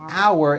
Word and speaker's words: our: The second word our has that out like in the word out and it has a hidden double in the middle.